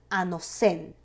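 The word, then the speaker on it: ἄνωθεν: Ahora, la palabra nuevo es una traducción de la palabra griega que se pronuncia anosen, cuyo significado es desde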